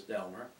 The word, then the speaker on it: Delmar: One, Maria, was the wife of Delmer Lynn, spelled like Delmar, but I believe the pronunciation was Delmer.